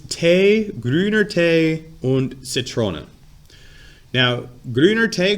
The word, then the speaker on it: Tee: It says Tee, grüner Tee und Zitrone. Now, grüner Tee, grün is green, Tee is tea. It's pronounced Tee, but it's spelled like tea.